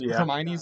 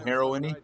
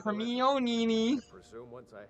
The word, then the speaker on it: Hermione: The Harry Potter movies are, like, so ubiquitous now that, like, everyone knows how to pronounce Hermione's name. Oh, you mean Heroine?